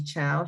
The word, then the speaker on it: Cao: Chow is spelled C-A-O.